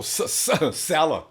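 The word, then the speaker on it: Saleh: about defensive coordinator oh Salah Salah Salah just like Sal he'll get him straightened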